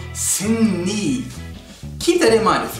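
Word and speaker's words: Seungri: and is called signe people who don't know hunger usually pronounce his name as sing read because that's why it's romanized but it's wrong the man is called sim me keep that in mind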